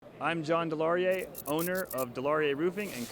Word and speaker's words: DeLaurier: elizabeth and today i am interviewing john from delaware roofing is that how you pronounce it correctly it's a hard it's a hard one sometimes i forget it's delaurier roofing and we're in athens georgia how has